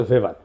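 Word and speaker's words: Weber: না আরেকজন দার্শনিক আছে ম্যাক্স ভেভার এটা ওয়েবার বলে অনেকে এটা উচ্চারণ আসলে ভেভার তার একটা লেজিটিমেসি এবং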